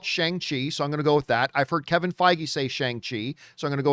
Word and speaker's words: Shang-Chi: And I'm sure it's going to come down the pike, because when the movie comes out, everyone's saying Shang-Chi. If that's not the right way to pronounce it, we're going to hear about it.